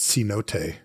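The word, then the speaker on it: Cenote: Producer Jeff says it's C-Note.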